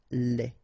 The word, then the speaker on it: lait: Okay, so the only difference is the final thing here, they, you don't pronounce it, they, you don't pronounce it, so phonetically you only have this lait.